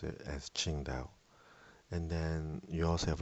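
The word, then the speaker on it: Qingdao: So one example I use often is ching dao when it's spelled with a Q.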